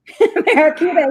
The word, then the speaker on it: Mariquita: Mariquita, yeah.